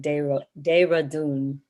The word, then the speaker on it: Dehradun: I'm so sorry for mispronouncing that. Dehradun.